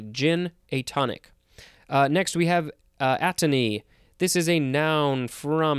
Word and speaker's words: atony: One, characterized by atony, which is the next word, but I just wanted to double check the pronunciation. Yes, it is atony.